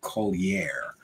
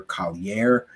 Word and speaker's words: Collier: The next contestant on UFO Whistleblower is Alex Collier. That's how I believe most people pronounce it, but of course I've heard people pronounce it other ways. Most often I hear Collier or Collier, In any case, Mr.